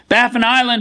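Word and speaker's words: Baffin Island: he is a former president and CEO of baffan Island iron mines Corporation currently serves as its non-executive chairman baffan island is developing the Mary River project located on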